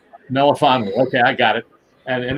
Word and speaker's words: Melifonwu: You pronounce his last name, Alec. Melifonwu. Melifonwu.